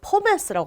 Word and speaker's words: Pommes: 그러면 이것은 펌이라고 읽나? 라고 생각할 수 있는데 이렇게 줄여 썼을 때는 포메스라고 합니다. 포메스.